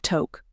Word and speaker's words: Tok: No one knows how the city of Tok, which rhymes with soak or choke, got its name.